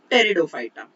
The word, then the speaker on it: Pteridophyta: Second is division Bryophyta, and third is division Pteridophyta. P is silent here. So cryptogams are divided into three divisions: algae, Bryophyta and Pteridophyta.